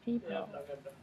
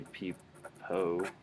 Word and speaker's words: people: So people. People. Yeah, so like people. You wouldn't say peepo. That's not a word. People. But it's people.